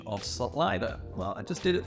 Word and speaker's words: Celina: off with the basics, and that is the pronunciation of Celina. Well, I just did it for you. A lot of people from out of state and out of town say Celina.